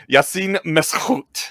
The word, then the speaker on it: Yassine Meskhout: I was going to ask you to pronounce it for us because you are trolling me, but okay. Yassine Meskhout.